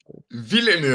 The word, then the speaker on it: Villeneuve: We are looking at how to pronounce with the typical French-Canadian or French pronunciation, Denis Villeneuve. Villeneuve. All right. Villeneuve.